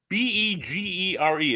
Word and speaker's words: Bergier: Begere. It's the French name, Bergier.